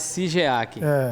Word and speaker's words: Shigeaki: Que inclusive se escreve com S-H-I, né? Como se fosse Sigeac. O pessoal fala mais Sigeac, né?